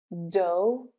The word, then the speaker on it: dough: Number 4, O-U-G-H sounds like O. Though, dough, thorough, thoroughly.